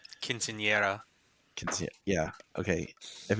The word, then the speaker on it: Quinceañera: But Sarah is having her Casineta. Am I pronouncing it? Quinceañera.